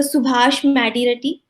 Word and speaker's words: Subhash Madireddy: Subhash Madireddy. Am I pronouncing your name correctly?